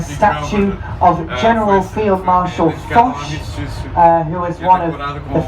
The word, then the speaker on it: Foch: I'm not entirely sure that's exactly how you pronounce his name, but it's spelled F-O-C-H. So it's the easiest way to say it without it sounding rude, I think.